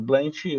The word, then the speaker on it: Blentt: O blend, os 2 T's no final, foi para estilizar essa palavra, então a gente optou até por manter a pronúncia mais aportuguesada mesmo, então ele ficaria blend mesmo, ele não precisa ficar blend, né? Não fica tão próximo do inglês.